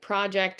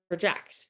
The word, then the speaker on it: project: Something like project or project, right?